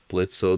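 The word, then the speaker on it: Blitzø: this stuff shall we blitzo the O is silent thank you very much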